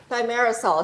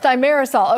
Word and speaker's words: thimerosal: And we'll have to get the uh correct pronunciation from from the expert from the doctor uh here. Thyarisol. Cheryl. Thyarisol.